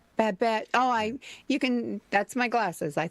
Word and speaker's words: Babette: Gloria Stivic on All in the Family, and Babel on Gilmore Girls. Is that how you say it? Babette. Babette.